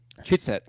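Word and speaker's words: třicet: Chitset.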